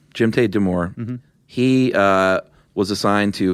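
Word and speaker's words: Jdimytai Damour: Do you know how to pronounce his first name? Jimte Demore. Jimte Demore.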